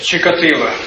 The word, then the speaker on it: Чикатило: Скажите, это украинская? Что это? Она украински произносит. По украинской мове. Чикатило.